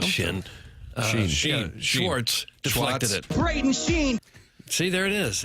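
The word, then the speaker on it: Schenn: Braden Sheen see there it is. It is pronounced Sheen.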